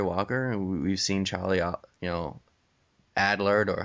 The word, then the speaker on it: Adlard: We've seen, Ryan Otley take over for Cory Walker, and we've seen Charlie, Adlard, or how do you say his last name? I think you got it. Adler.